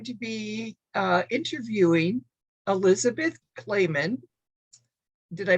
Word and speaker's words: Clamon: different we just say clam on well that's a good way good way to remember if you can remember that clap on clap off commercials you can remember clam on that's a good analogy